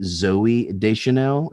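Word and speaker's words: Zooey Deschanel: I just don't want to screw this up, but this movie started my slight obsession with, is it Zoe Deschanel?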